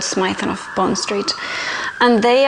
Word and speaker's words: Smythson: And as you know, Smythson, sorry, it's pronounced Smythson, I keep forgetting that. They're a really good leather and stationery company from London, from Bond Street actually. It's called Smythson of Bond Street.